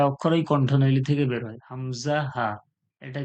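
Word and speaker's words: همزة: আলিফ আলিফ আলিফ হ্যাঁ এটা কি হামজাহ হামজা হামজা হামজাহ হামজা নয় হামজাহ হামজা এরপরে দেখুন এটা কি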